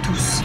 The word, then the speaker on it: tous: d'un pluriel pluriel masculin donc on prononce tous on prononce le s du tous mais il se place